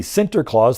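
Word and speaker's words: Sinterklaas: the layers we go from Santa Claus to the center Claus the Dutch pronunciation of St Nicholas to the real guy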